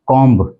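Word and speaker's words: comb: इसको हम बोलते हैं कमम बोल देते हैं लेकिन जो इसका एक्चुअल प्रोनंसिएशन है वह है कॉम कॉम यानी बी इसके अंदर साइलेंट है तो इसको बोला जाता है कॉम कॉम अगला 20 वर्ड है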